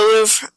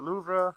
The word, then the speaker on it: Louvre: I visited the Eiffel Tower a little bit, just looked around and stuff, and then went to the Louvre.